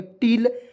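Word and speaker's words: till: यहाँ आप देखिए टी I double L, टील, और देखिए टी से ट होता है, आई का प्रयोग छोटी की मात्रा, एल से ल, और एक एल को इसमें साइलेंट कर देता है दोस्तों, तो क्या पढ़ेंगे, टील। और टील मिस क्या होता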